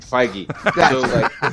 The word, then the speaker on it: Feige: frigg frank holy i just butchered that name feige the marvel is all controlled by feige so